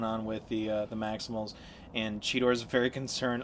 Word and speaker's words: Cheetor: He said Cheetor in this episode and everything.